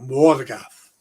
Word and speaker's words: Morgoth: Have to pronounce the O. Morgoth.